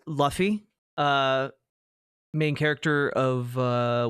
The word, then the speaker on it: Luffy: Revolution would be Loi. Uh, it's pronounced Luffy.